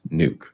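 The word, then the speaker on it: Nuuk: Protests have already broken out in Copenhagen and Nook. I think that's how you pronounce it. Forgive me if I'm wrong. I was wrong. I just went and looked it up. It's pronounced nuke.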